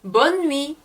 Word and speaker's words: bonne nuit: 그래서 bonne nuit 해서 뭐 good night 이란 뜻이 되는 겁니다. 근데 bonne nuit에만 니은자 발음이 더 세게 나는 게 들리시죠?